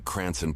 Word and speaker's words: Cranston: They meant to type Cranston, but Florida officials may have misunderstood a Rhode Islander pronouncing Cranson Pauliey's department in their famed accent.